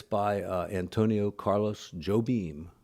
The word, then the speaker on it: Jobim: it's by Antonio Carlos Jobim or hoe beam depending on your pronunciation the song goes like